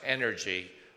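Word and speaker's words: NRG: acon but most importantly it's pronounced energy oncology because of the great energy that we have uh if you look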